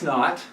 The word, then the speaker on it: naught: at rest so x naught that's how we say it the little zero off to the side we call that a not um as in not that's how it's pronounced it just really means